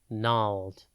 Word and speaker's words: gnarled: time today's word is nald it is pronounced Nal and spelled g n a r l e d note the silent g at the beginning before we get into